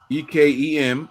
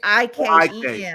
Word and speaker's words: Ikem: With the 6th pick, Carolina select EKEM, right? It's IKEM.